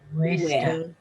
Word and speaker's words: cuesta: And that U and A are both going to get pronounced, so that the two vowels that slide together here are U, E, ue, ue, ue. It'll sound like, it'll feel to you like an English W.